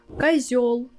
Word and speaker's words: козёл: Our tip here is when you have a word where you have together ё and о, you can be sure 100% that о will sound like а. Козёл, котел, орел. In these words, о will be always а.